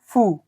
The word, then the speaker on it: ふ: যে অক্ষরটা আসে সেটা হলো হ এই অক্ষরটি এবং এটির উচ্চারণ হয় হা এরপরে আসে হি এরপরের অক্ষরটি এটি কিন্তু হু নয় এটি হল ফু ফু ফু এর পরে